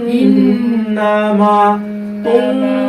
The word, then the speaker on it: إنما: কিভাবে পড়ে দেখছো إنما প্রতিটা হরফ উচ্চারণ হবে আলাদা আলাদা ভাবে إنما ইন্নামা তুনজিরু মা নিত্তাবা আজ